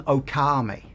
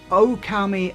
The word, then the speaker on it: Okami: I keep wanting to pronounce this one Okami. I've no idea why. The long vowel sign is over the O, not the A. It even says so on the spine.